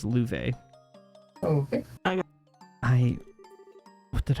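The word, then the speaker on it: Loewe: foreign sister and Louvre yes that is pronounced Louvre oh okay I what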